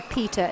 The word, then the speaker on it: pita: Shay, I enjoy pita as well. It's very important you pronounce it pita, Pita. not Peter.